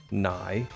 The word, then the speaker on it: nigh: Pronounced like the end is nigh.